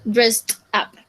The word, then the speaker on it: dressed up: O sea, la forma de pronunciar es muy, muy complicada de entender, porque en afirmativo sería dress up y en pasado sería dressed up, agregándole como la pronunciación de una T al final.